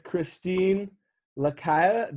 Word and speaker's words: Chrystine Lacaille: is our conversation hello i am here with christine lakaya did i pronounce that right that was perfect that's great